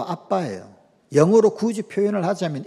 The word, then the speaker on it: 아빠: 발음이 아람어로도 아빠예요.